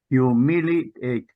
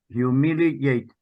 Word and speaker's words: humiliate: Hue humiliate humility military humiliate no no with a Y gate yate humiliate yes and another one is